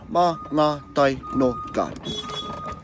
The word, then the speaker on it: Mangatainoka: Okay, and that's how you pronounce ma, nga, tai, no, ka. Alright, ma, nga, tai, no, ka. The beer's alright too, it's not too bad. Yeah, so ma, nga, tai, no, ka.